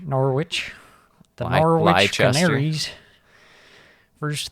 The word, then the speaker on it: Norwich: I see one team with a massive dub, and that's a team that you don't pronounce the W. I call them Norwich. Norwich.